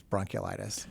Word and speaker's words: bronchiolitis: listening to think well he's pronouncing bronchitis wrong no it's they're two distinct things two distinct things bronchiolitis and bronchitis so uh can you